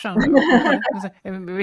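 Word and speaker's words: Sándor: Am I pronouncing I mean I think it's Shandor. I tried to I tried to pronounce his first name in a in the Hungarian way and I never got it right. The gy eluded me.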